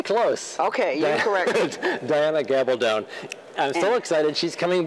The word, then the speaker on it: Gabaldon: Now, this is the wildly popular Diana Gabaldon. Did I say it correctly? Very close. Okay, you corrected. Diana Gabaldon.